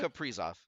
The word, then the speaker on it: Kaprizov: As soon as they lost Kiprusoff, Kaprizov, how do you pronounce it? Kaprizov.